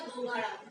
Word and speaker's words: दोगाड़ा: दोगाड़ा, spelling यही है, pronunciation शायद दोगड़ा या दोगाड़ा में से कुछ बोलते हैं, तो जो भी अच्छी तरीके से जानता है वो देख लीजिएगा, बाकी दोगाड़ा ही बोला जाता है राजस्थान के अंदर प्री मानसून शावर को।